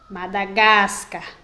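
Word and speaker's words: Madagáscar: qual é a pronúncia a sílaba mais forte ou a sílaba tônica é a que tem o acento então se eu for pronunciar madagascar com acento vai ficar madagascar madagascar certo então eu vou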